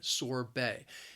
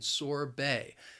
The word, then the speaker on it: sorbet: sugar and it's frozen sorbet it has two syllables and the stress is on that second syllable and again listen to the pronunciation sorbet it's not pronounced the